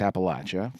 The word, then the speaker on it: Appalachia: they go to the poverty sections of uh Appalachia and or Appalachia. There you go. I I see I keep I kept correcting myself how to say it and I just said App Appalachia. It's I it's Appalachia from and uh it's a it's a it's